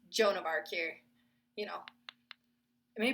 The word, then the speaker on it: Joan of Arc: to her hmm intriguing you know tell me jinda arc was famous for hearing the voice of God but usually it's only spiritus Rouge which I pronounced that horribly wrong as well because it's Joan of Arc here you know it may be an evil